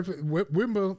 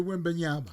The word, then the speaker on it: Wembanyama: Wimba? How you pronounce it? Victor Wembanyama.